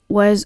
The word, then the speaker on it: は: While the hiragana character ha is typically pronounced as ha, when ha acting as a particle is pronounced as wa.